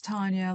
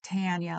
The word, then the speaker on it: Tonya: Uh, it's Tonya like Harding, not Tanya like Hurst.